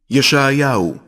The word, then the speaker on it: ישעיהו: ישעיהו, שליח אלוהים.